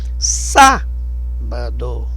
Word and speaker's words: sábado: Sábado. O forte é no sá.